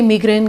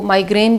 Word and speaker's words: migraine: आज की छोटी सी वीडियो है जी मिग्रेन के ऊपर। मिग्रेन जिसको माइग्रेन भी कहते हैं, डिफरेंट इसके प्रोनाउंसिएशन है।